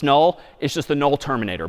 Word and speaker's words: NUL: N UL pronounced null is just the null terminator back/zero.